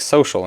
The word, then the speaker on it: social: you try to pronounce social as written. If you say it often enough and quickly enough, over time the sya becomes a sh, and that's precisely what happened when this word was developing.